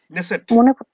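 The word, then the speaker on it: Knesset: করে রাখবো আমরা নেসেট নেসেট বানানটা হচ্ছে কে এন E double S ই টি ন্যাসেট ঠিক আছে সামনে একটা কে আছে ওকে ন্যাসেট ন্যাসেট তারপর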